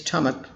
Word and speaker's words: stomach: stomach or stomach but the current pronunciation is stomach stomach two syllables i am suffering from